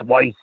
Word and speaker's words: Weiss: He's like, Weiss. It's Weiss.